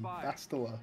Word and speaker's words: Bastila: That was pronounced in the game. Bastila.